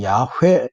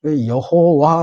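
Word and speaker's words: 야훼: 스스로 있는 자 라 이게 이제 히브리어로 시골에는 몸이 없기 때문에 자음을 을 연결하는 이것이 야외 이렇게 발음이 된다는 거죠 여호와 라고 하는 것은 중국 사람들이 야외가 발음이 안되서 여호와 2호 바르게 준말로 이야기 그렇게 에 음 처한 거죠 원래 이름은 야외 하고 있는 거야 히브리 원화의 가깝다 이게 이제 히브리어를 하시는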